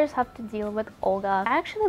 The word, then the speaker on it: Olga: I think Olga sounds so harsh. If you were to pronounce my name in Russian, you'd actually say Olga with a very soft L.